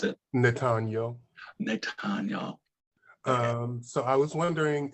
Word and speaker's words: Nathaniel: How do you pronounce it? Nathaniel.